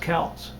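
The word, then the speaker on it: Kautz: name is Pete keltz I believe it's pronounced cows it's k-a-u-t-z um it might be pronounced cats I'm not really sure he does a lot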